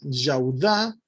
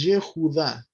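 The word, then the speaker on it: יהודה: Y esto gramaticalmente, hermanos, en el hebreo nunca va al principio de un nombre. Por eso no es Yahoshua, por eso no es Yaudá, sino que es Yehoshua y Yehudá.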